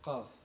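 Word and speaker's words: قاف: Arabic speakers by the articulation of the Arabic letter qaf, a letter most closely aligned with the English Q, but here the sound is pronounced at the very base of the glottis, at the point of the so-called Adam's apple.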